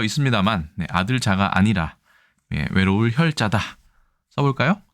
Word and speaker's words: 孑: 하지만 이것은 아들 자자라고 읽지 않습니다. 바로 보시겠습니다. 이 글자는 일단 준 특급에 배정되어 있는 외로울 혈자입니다. 외로울 혈.